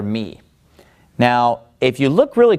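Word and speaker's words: μ: and then after lambda we have the letter me me now me basically looks like a lowercase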